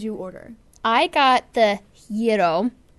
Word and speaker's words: gyro: order I got the hero not gyro yes i'm quoting her haha yeah the proper pronounced pronunciation is your donut gyro it looks like gyro but in Greek it's pronounced I used to work